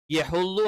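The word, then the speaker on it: يحض: പറയുന്നത് വലാ യഹ്ളു യഹ്ളു അവിടെയും യ കറക്റ്റ് ആയിട്ട് ഉച്ചരിക്കണം യഹ്ളു ആയി പോകരുത് യെ എന്നുള്ള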